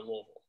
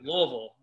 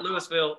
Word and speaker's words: Louisville: So, if you really want something to do, you got to go to Louisville. And that's how you say it, Louisville. Not Louisville, not Louisville, Louisville.